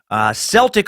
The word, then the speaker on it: Celtic: belief, most likely not Celtic. Celtic, also an acceptable pronunciation for that word to all of the pronunciation police out there listening. I prefer Celtic because I like hard consonant sounds, which partially explains my affinity for profanity.